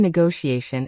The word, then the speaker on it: negotiation: And negotiation is /nio.iei.n/, with the TI pronounced as sh. Let's practice these: entrepreneur, colleague, hierarchy, negotiation.